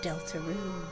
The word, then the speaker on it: Deltarune: This is the legend of Deltaroon. No hyphen. Separate space. That's the correct pronunciation apparently.